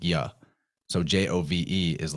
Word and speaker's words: Jove: Well, in the Romanized pronunciation of languages, the J or the I makes the same sound. It's like a Y. It's like ya. So Jove is like Yov, right?